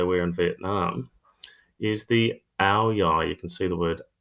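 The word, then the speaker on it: áo dài: in Vietnam is the hour you can see the word our UI here the D is silent our most commonly worn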